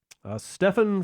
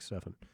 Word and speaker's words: Stephen: is teph en but he's specified that it's pronounced like Stefan I went to a